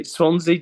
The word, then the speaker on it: Swansea: now the new band am I saying it correctly when I say Swansea sound swansee swansey sound that does it yeah okay I'm American